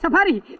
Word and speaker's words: safari: Not fasari. It's safari. Ma'am, a tour in the jungle is called a safari.